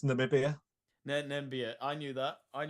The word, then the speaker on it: Namibia: nambia so for any of you that get nambia you might might be in with a treat of getting the worst team of the tournament prize hello B it's Namibia nambia I knew that I knew that I